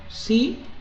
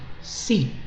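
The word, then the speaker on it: psi: Sí es ángulo agudo en este triángulo rectángulo. Ubícate en el triángulo de vértices A, B, C. Acá tenemos ese ángulo que se pronuncia así, sí, que se parece a una Y, algo así, ¿no?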